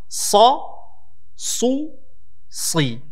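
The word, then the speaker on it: ص: What you have to make sure and know is that the sad has nothing to do with your lips. Notice how I pronounce the letter sad. Sa, su, si.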